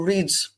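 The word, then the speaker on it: Riddes: and took another train onto Reed. I think that's the correct pronunciation.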